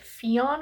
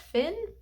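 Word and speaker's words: Fionn: but um it follows I pronounced it Finn it's spelled f i o NN which I like thought was like Fon or something but but then I looked it up and Google said it's just pronounced Finn I don't know he's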